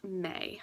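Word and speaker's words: Mae: It's May, but I like it spelled M-A-E.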